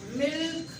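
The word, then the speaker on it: milk: जब आप कह रहे सिल्क, मिल्क, तो देर वाला साउंड हो रहा है, तो आप देखो आप एल को प्रोनाउंस कर रहे हो।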